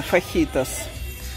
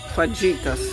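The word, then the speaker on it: fajitas: Фахитас. Фаджитас. Вообще-то фахитас. Американцы произносят, не знаю как точно.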